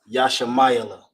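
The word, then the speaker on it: ישמעאל: You pronounce that Yashamayala. That's how you would write it. I'm gonna go underneath. So you have Yasha My Allah. Yashamayala.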